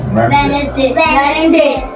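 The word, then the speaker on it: Wednesday: वेडनेसडे। इसमें डी जो है वो साइलेंट आता है।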